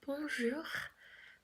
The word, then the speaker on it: bonjour: So the first syllable, we're going to say bon. Can you try to say it with me? Bon, bon, good job. And then for the last syllable, we have this difficult R sound that we say jour, jour, jour, bon, jour, bon, jour.